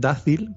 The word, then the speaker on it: Dácil: La primera es Dácil, con acento en la A.